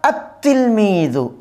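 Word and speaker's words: التلميذ: লেখার ক্ষেত্রে এরকম হবে আলিফ লামটা আসবে কিন্তু কি হবে না উচ্চারণ হবে না আতলমি যেমন আতফলু তিফলনের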